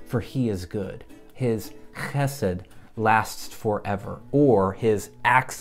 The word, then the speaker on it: chesed: And remember, we're reading this way, so we pronounce the word d, chesed.